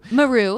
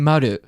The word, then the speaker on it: Maru: I've heard of Kobayashi Maru Maru which is not the right way to say that because I speak Japanese it should be Kobayashi Maru like circle but whatever I won't